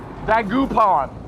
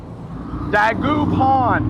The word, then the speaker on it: Dagupan: to the city of How did that woman at this cafe say to say the name of that city? Dagupan. Dagupon. Dagupon. I think that is correct.